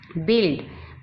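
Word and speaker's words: build: बिल्ड, बिल्ड में you silent है।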